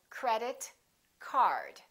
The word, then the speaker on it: credit card: For example, credit card. credit card. Two words representing one object, we stress the first word. Repeat after me, credit card. Also, say these two words as one word. Join them together.